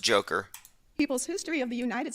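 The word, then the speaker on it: Dzhokhar: in 2010 boston bomber zokar and sarnov if i'm pronouncing that correctly said that reading it's pronounced joker people's history of the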